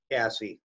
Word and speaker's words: CASSE: And what's the role of do you pronounce it CASSE for short? CASSE, we pronounce CASSE.